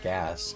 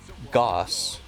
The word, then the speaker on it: Gauss: Is it pronounced Gaus like it's spelled or gas? It's pronounced like moss. Goss.